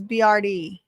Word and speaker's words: BRD: Um, when Yes, it's pronounced like the letters BRD.